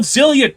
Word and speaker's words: Xillia: Tales of Xillia 2. Despite how stupid that is, Tales of Xillia... It's an X, not a Z. Xillia.